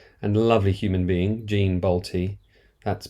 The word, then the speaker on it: Bolte: the ultra talented and lovely human being Jean balty that's balty rhymes with Nick NTI as she told me um